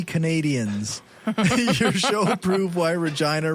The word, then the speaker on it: Regina: your show prove why Regina rhymes with fun oh for [ __